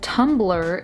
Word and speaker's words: Tumblr: Wikipedia states, Tumblr, pronounced Tumblr, is a microblogging and social networking website founded by David Karp.